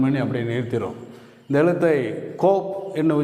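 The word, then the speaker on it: קוף: இந்த எழுத்தை கோப் என்று உச்சரிக்கிறோம்.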